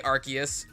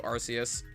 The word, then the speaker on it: Arceus: what it is yeah some people say arceus i say it with like the s sound so arceus mjtv you say arkoos